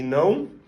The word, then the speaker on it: não: You will find in words like yes and no, sim e não, or in the first name, Joaum, which is one of the most popular names in Brazil and in Portugal.